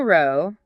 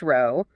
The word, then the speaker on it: row: Imagine reading the sentence, the couple had a blazing row, rhymes with cow, meaning a loud argument about which row, rhymes with go, meaning a line of seats of the cinema to sit in.